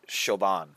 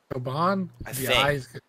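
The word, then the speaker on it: Siobhan: shoban Whitaker I think I think that's pronounced shoban shoban the only reason I know that this is going to be a real deep cut here but on one of the earlier seasons of Hell's Kitchen there was a woman with that name and I think they pronounced it shoban shoban I think okay even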